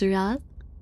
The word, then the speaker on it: wroth: That's how you pronounce that? Roth. You pronounce this Roth.